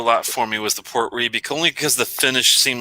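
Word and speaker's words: Port Ruighe: Well, it's just Port Ree is how you pronounce it, but yeah, it's Rughie.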